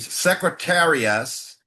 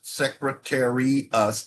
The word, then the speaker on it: Secretarius: Page Secretarius, just like it's spelled, Secretarius, I-U-S.